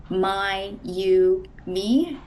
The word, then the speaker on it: Mayumi: My name is Mayumi. It's pronounced um my you me.